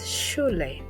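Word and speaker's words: shule: The next sound is sh and the equivalent sound in English will be found in the word shu. The sahili word that will show us how it's pronounced is shle.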